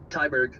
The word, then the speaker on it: Tyberg: Matt um, how do you say your last name? Tyberg.